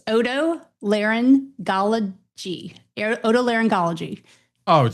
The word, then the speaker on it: Otolaryngology: All right, how do you pronounce that word? Let's get that out of the way. Otolaryngology.